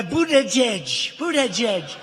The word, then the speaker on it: Buttigieg: And then you have a young guy, Buttigieg.